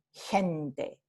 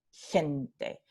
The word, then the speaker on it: gente: Entonces, en Chile se pronuncia como palatal, gente, gente.